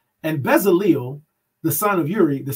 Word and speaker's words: Bezaleel: Exodus chapter 38, verse 22, and it says, and Bezaleel, the son of Uri, the son of Hur, of the tribe of Judah, made all that Yahweh commanded Masha.